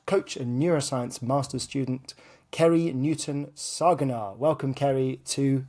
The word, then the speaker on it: Ceri: what you do so uh my name is krie uh and thank you for pronouncing my impossible name uh well that's always